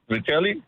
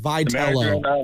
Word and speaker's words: Vitello: said about Buster and Vitelli. Is it Vitello? Vitello. Yeah, Vitello. I'll say Vitello, man. I'll say it like that because anyway, Vitello.